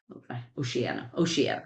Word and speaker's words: Oceania: Oceania, that's how we pronounce it.